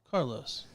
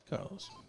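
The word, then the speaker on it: Carles: their own dialect so even though it's spelled like Charles without an H it's Carlos yeah the the translation to other Spanish speakers would be Carlos and that's directly from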